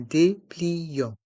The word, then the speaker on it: dépliant: un dépliant un dépliant il y a le son en avec les lettres a et N et le T mué un dépliant un dépliant une brochure